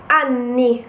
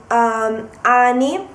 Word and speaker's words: anni: Be careful, because if you do not pronounce the double N, it could result in ani, which is anus, the translation is. So be careful when you ask the age of someone. So anni, anni, double N. You really have to stress that N.